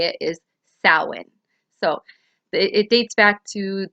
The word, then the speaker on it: Samhain: Now, I know that Samhain looks like the way it's spelled looks like it says it would be pronounced as Samhain, but it's not. It's Samhain.